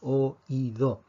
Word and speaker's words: oído: dos sílabas hoy go en oído tenemos lo que llamamos un hiato niñato es cuando tenemos dos vocales que no forman una sílaba entonces tenemos o ido y en español automáticamente cuando tenemos dos vocales una vocal abierta y una vocal cerrada que no forman un diptongo tenemos que escribir un acento y esto es lo